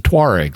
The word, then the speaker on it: Tuareg: They're a Berber people, and notice how their name is spelled. Tuareg. It's the same as Taured, except it ends in a G rather than a D, and both D and G are similar sounds. They're both voiced consonants, and all you do